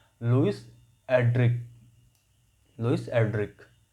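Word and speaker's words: Erdrich: तो Louis एड्रिच, एड्रिक है, pronunciation का सही वाला एड्रिक है, पर हमको इसको याद करने का तरीका क्या है?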